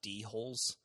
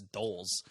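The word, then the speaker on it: dhole: mowgli's wolf father and these dogs are called Doles but the way it's spelled my mind keeps wanting to call them d-holes which I guess they are but it's spelled D equals see that it's it's Doles the dreaded dolls well anyway I had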